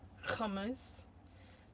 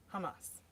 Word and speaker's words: Hamas: we all know that they pronounce Hamas with a with an extra K that doesn't exist Kamas so yeah there's simple Hamas um yeah so the